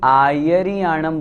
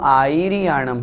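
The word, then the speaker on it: आयरियाणं: नमो आयर्याणं एक बात ध्यान रखें, बहुत से लोग आयर्याणं बोलते हैं, वो अशुद्ध हैं। मूल पाठ में नमो आयर्याणं है, इसलिए हमें आयर्याणं ही बोलना है। दूसरी गलती इसमें री को बड़ी भी कर देते हैं, आयर्याणं इस तरह से कर देते हैं, वो अशुद्ध हो जाता है। इसलिए हमें बहुत अच्छी तरह से शुद्ध उच्चारण करना है।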